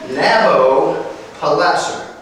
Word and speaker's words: Nabopolassar: Nabopolassar. That was one name, not two. He wasn't Mr. Nabo. He was Nabopolassar.